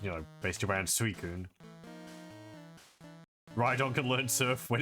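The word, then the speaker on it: Suicune: In my head, I've always pronounced it suicen, but it's suicun.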